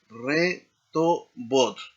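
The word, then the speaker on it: רחובות: Eh re job, significa calle, en el plural será rejobot, ¿no?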